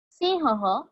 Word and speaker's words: सिंहः: ह के बाद और एक बार मैं ह प्रोनाउंस कर रही हूँ for that 2 dots. Please focus on इट. सिंहः.